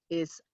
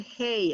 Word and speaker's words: hay: are, both of them, is I, as in the I that we see with. Don't ever pronounce it hey. It's not hey, it's I.